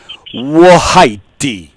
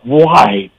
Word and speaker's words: White: All right, so in that case, thank you for joining us, Wahaiti. No, White. Well, no, you got to pronounce the E at the end.